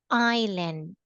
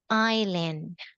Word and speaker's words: island: want you to say island island great even though that the spelling as s we pronounce it or we read it without s silent s island all right Mary